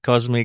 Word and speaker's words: Cosme: I'm hoping I pronounced the middle part Cosme correctly. It was perfect, Justin.